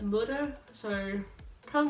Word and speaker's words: moeder: Moeder, M-O-E-D-E-R, I'm pretty sure it's spelled. Pronounced moeder, so kind of like mud and an but moeder with a bit of an E tone to it.